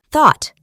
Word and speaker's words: thought: La TH se pronuncia igual que en think. El grupo de letras UGH no se pronuncia y la O se pronuncia de una manera acentuada. Thought.